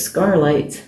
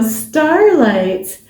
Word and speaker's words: Starlight: A lot of times people think it's Scarlight. Scarlight. Like, no, Starlight.